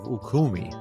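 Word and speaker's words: Ürümqi: a fatal fire in the Northwest city of ukumi u r u m q i good luck on pronouncing that gentlemen but that's how I'm giving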